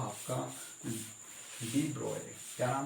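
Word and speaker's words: de Broglie: अब इन the same way एक scientist आए थे बाद में जाके, और साइंटिस्ट का नाम था आपका डी ब्रोगली।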